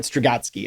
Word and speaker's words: Strugatsky: by Arkady and Boris, I'm going to try to get this right, Strugatsky, I think is the pronunciation.